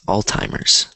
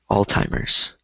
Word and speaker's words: Alzheimer's: So this word, so it's pronounced like this, Alzheimer's. I know there's no T in it, and so you're wondering where the T is coming from, but that's how it's pronounced, Alzheimer's.